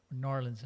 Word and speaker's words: New Orleans: Bay at New Orleans nor Orleans as they say I say it right yeah okay good all